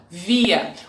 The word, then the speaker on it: wir: Repitam, wir. O R final, no final de uma palavra, tem som de A.